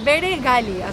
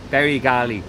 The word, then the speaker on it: Bere Gali: Yes, Bere Gali. Yes. Bere Gali. So it's like the cap, the Bere. Bere Gali.